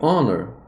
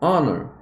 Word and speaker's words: honor: é traduzido como Honor perceba eu falei Honor com som de o no começo o Honor Honor é um som de